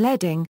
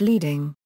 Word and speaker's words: leading: Origins: the word comes from lead strips that were put between set lines of lead type, hence the pronunciation leading, and not leading.